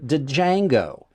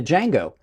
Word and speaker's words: Django: the YOLO I mean really the YOLO the Django I did I know I just accidentally proun pronounced the D but the J the Django by uh by kwu knives with names are